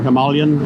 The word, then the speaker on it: Himalayan: I'm not really that interested in the Himalayan or Himalayan as they pronounce it.